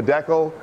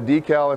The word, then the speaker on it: decal: pronouncing this wrong Canada here we see it's a deckle you might call it a decal if you're in the States I'll call it a